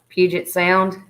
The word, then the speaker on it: Puget Sound: and we went to, I'm not going to say it right, but I'm going to give it a shot. We went to this bridge, and it was called the Puget Sound. Puget Sound. Huh? Puget Sound. That's it.